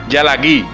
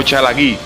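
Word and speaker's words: ᏣᎳᎩ: El término castellano Cherokee puede deberse en origen al término en lengua cherokee, pronunciado Yalagí o Chalagí.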